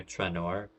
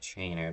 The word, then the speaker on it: Traynor: Okay, for the longest time I've been calling her Tranor. She corrected me in saying it's like Trainer, but I feel like Traynor is the better pronunciation.